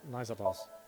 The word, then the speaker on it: Naixatloz: About Nizatlos. It's spelled Naixatloz.